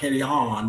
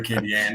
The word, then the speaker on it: Acadian: And and people try to get fancy with Distillery Khan, you know, and you said it right. Distillery Kyan.